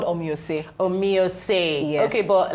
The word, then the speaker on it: Omoye: name as we were just chat so let's pronounce that name again okay it's called OS omio okay but like if it was it's actually